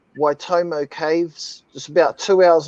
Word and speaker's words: Waitomo: underneath the ground right that's spelled uh w a i t o m o y you can see the people how big that is compared you say it you just you say it like white homo homo they don't